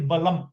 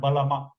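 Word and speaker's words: बलम्: That ma has a shoe underneath, right? That means it is balam. It is not balama. Okay. If that shoe were not there, I should pronounce it as balama.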